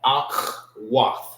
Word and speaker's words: Akhwath: Akh and Akhwath. Some people say it so fast you will not hear like the pronunciation that the you hear Akh. Sound like you're saying it with a K, the K-A, Akh. But it's Akh. All right.